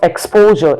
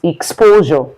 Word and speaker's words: exposure: Then we have exposure. So it's not exposure, it's exposure.